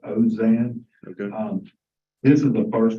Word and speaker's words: Alzine: We pronounced it a lot of ways. I think his attorney pronounced it Ozan.